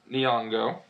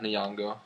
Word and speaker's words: Nyong'o: Lupita Nyong'o for 12 Years a Slave.